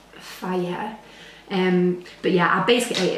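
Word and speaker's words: Fage: I used to call it phage, but I think it's pronounced fire.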